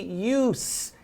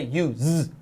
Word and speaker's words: use: And pay attention to how we say use here. It's not the verb, so we don't say use, it's use.